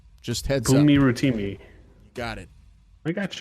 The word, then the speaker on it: Bunmi Rotimi: Practice your pronunciation. It's Bunmi Rotimi. Just heads up. Bunmi Rotimi.